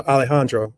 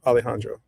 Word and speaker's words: Alejandro: Um the J in Spanish is pronounced like an H. So Alejandro.